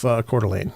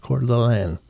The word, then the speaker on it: Coeur d'Alene: It's just north of Coeur d'Alene. Yep. Yep. That's how you pronounce that is Coeur d'Alene.